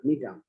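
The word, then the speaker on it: Gnetum: পোটোকার্পাস নেরিফোলিয়াস, নিটাম মন্টেনাম, এটা জি এর উচ্চারণ হবে না, নিটাম, নিটাম অবলঙ্গাম, নিটাম ল্যাটিফোলিয়াম।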